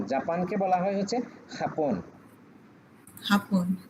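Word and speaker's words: Japón: হাপন। যে উচ্চারণ আমরা ওই যে বললাম না হোতা, হোতা।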